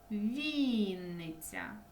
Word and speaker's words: Вінниця: поставимо наголос цих словах Вінниця наголос на і Запоріжжя наголос на і